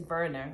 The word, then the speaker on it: Werner: And then it also follows, I thought his name was I think it's Werner, but it's spelled like with a W.